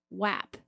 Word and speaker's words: WAP: That's pronounced WAP. WAP. Is it WAP or WAP? It's WAP.